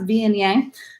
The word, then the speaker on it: Viognier: Viognier, that's how that's pronounced, Viognier.